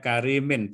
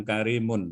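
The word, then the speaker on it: كريمٍ: itu Gimana bacanya itu atau rojulun bacanya karimin bukan Karimun itu laki-laki seperti rem karena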